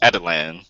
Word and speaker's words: Adeline: I recall yeah adelan as they say in the on the cartoons it's adelan oh is it adelan yeah